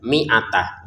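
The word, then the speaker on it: مائة: Nah ini tidak dipanjangkan. Jadi cara bacanya langsung saja miatah.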